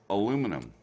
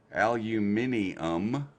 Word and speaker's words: aluminum: And aluminum. Aluminium insinuates that that it ends in N-U-I-M, and that's not how the word is spelled. There's two Therefore, spellings, Mel. Aluminium, huh? There's two spellings, and both are correct. You Look can it only up. spell a word one way. No, it's pronounced as two different words for the same element, because a British scientist